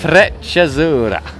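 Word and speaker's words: Freccia Azzurra: I do always have trouble pronouncing it. Frecciazzurra.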